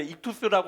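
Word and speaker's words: ΙΧΘΥΣ: 근데 여기 가운데 다섯째 자가 이제 익투스라고 하는 발음을 가지고 있는 것인데 로마 시대의 그리스도인들은이 마크만 보면 물론 그 가운데 이투스라고 하는 글자는 쓰지 않아요.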